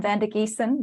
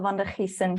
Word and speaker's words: Van Der Giessen: Well, that's how I would say it as an Australian. I grew up calling myself Van Der Giessen, but the Dutch would probably say Van Der Giessen with the Dutch G